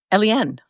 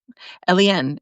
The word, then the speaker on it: Elien: And she was like, Elien. Elien with an accent, Elien, accent on the E, Elien.